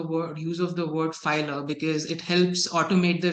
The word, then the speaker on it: Philer: our first question so uh what exactly is filler and what sort of services does it provide